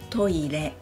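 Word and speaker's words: トイレ: トイレ is also toilet.But Japanese people pronounce each syllable with equal length. So, トイレ .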